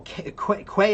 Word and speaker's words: quay: Oh, Quay is pronounced like key?